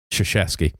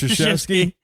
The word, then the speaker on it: Krzyzewski: Not spelled the way it sounds. He's a real fucking prick. Krzyzewski. Oh. It's like, you're a fucking liar. Yeah. There's no. It's just actually, it's pronounced Krzyzewski.